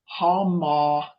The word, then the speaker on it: homoousios: This word that Mike has put up on the screen is pronounced homoousios.